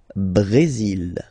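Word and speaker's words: Brésil: only mexic okay Brazil Brazil okay you will pronounce the final L here and then remember accent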